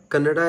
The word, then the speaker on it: Kannada: I just want to brief you guys that kannada is just pronounced as kannada kannada not kannada we don't